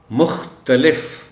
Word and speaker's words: مختلف: خاص توجہ چاہیں گے۔ مختلف، اس لفظ میں تے پر زبر کا خاص خیال رکھا جانا چاہیے، اس طرح پڑھا جائے کہ تے کا تلفظ نمایاں ہو جائے۔ عام طور پر رجحان ہے کہ اس لفظ کو تے پر جزم کے ساتھ پڑھ دیا جاتا ہے، جو کہ غلط ہے۔ اس کو پڑھنا ہے